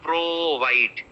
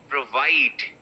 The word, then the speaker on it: provide: pro fight pro fight the pro is very very short provide provide provide it's not pro white it's provide right it is a verb